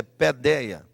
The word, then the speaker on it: paideia: Escreve paideia, mas a pronúncia é pedeia.